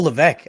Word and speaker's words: Levesque: Levesque? It's a silent S. Oh, Levesque.